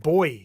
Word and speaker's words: buoy: Forestville Matt says, "A buoy is what Hawaiians call an ocean buoy, pronounced boy here in Australia."